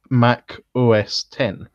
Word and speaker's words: Mac OS X: like their operating system Mac OS X is actually supposed to be pronounced Mac OS 10 yes and so the